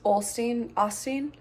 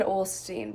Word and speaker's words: Osteen: Also listening to Joel Osteen. Now I can't remember how to pronounce it. I think I always said Olstein, but I think it's Osteen. Have his book.